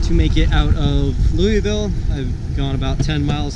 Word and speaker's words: Louisville: But you get beat up if you call it Louisville. It's actually called Louisville. You got to pretend like you have rocks in your mouth or uh or you're not saying it right.